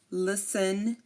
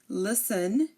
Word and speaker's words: listen: for example Christen fasten listen again Christen fasten listen these are you do not hear the T the t is silent here and if a word